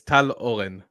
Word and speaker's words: Tal Oran: In Hebrew, it's Tal Oran. Oh, that's so cool. Tal Oran. Right, the R is like a W.